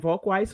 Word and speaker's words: Volkweis: Volkweis. Yeah, you got it. Weiss. Yeah, right. He You said it right the first time.